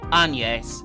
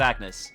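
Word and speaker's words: Agnès: one's the correct one, but in the Japanese it is also Anes, so we'll go with that. But I feel like half the people in the dub didn't know how to say it and they just went with Agnes, which it is written as kind of, but it has the E with the the thing.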